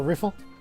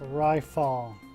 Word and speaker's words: Rifle: Or Riffle? Hey you, private second class. My name is pronounced Rifle. Rifle. It's not that difficult.